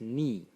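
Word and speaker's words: 疒: And again, clearly the phonetic element is ba, and the semantic element is this part of the character, which is pronounced ni.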